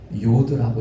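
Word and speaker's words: יוד: 히브리어를 보면은요 10번째가 요드라고 읽어요.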